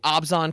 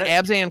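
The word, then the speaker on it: Abzan: So hopefully I can uh represent the uh the Obsan clan clown clan correctly. See, I said I've been saying Absan clan for so long.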